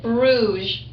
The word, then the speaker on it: Bruges: Those of you who are still sounding out, B-R-U-G-E, and it has a silent S.